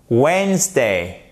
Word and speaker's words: Wednesday: Ce qu'il faut surtout éviter, en fait, de prononcer le D. Il ne se prononce pas et vous faites bien comme ceci. Ça, c'est la première syllabe. Voilà. Wednesday, Wednesday, Wednesday, Wednesday. Et ici, c'est un, c'est pas un S, c'est un A. Même s'il n'est pas accentué.